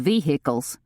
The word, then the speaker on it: vehicle: "I hope you have one of those off-road vehicles," said Letty. She pronounced it vehicle, hitting 3 distinct syllables, like the police often did.